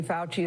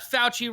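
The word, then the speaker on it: Fauci: Anthony Fouchy is director.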